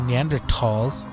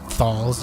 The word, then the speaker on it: Neanderthals: I read an article that stated researchers found archaeological evidence in Spain that ancient human species, Homo antecessor and Neanderthals, you don't pronounce it thals, you dumb ingrates.